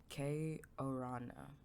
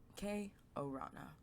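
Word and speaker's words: Kei Urana: K Orana K Orana. Okay. K Orana.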